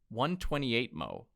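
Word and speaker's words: 128mo: The smallest format I've ever seen is a 128 mo, which requires 7 folds and produces 256 tiny pages.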